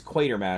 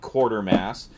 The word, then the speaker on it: Quatermass: it correctly as Quatermass because it's Quatermass it's not quarter mass anyway this was the